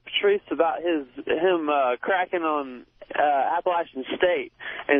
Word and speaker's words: Appalachian: I want to talk to Patrice about him cracking on Appalachian State. And it's not Appalachian, it's Appalachian.